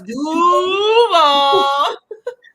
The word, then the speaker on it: Duval: You got to know how to say it. No, It's Duval.